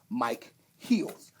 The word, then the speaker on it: Micheals: my comedy my name is not actually michaels a lot of people don't know it's actually if you look at this r-i-p-m-i-c-h-e-l-s it's actually mike heels so that's actually how you say my name but everybody's kept it real michael so i don't really